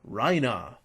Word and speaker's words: Reiner: You don't have to pronounce Reiner's name Raina.